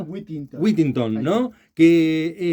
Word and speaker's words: Withington: ¿Está bien pronunciado? Whittington.